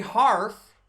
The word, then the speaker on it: Harf: colleague miss Murray bar Marie harf rhymes with bars former State Department spokeswoman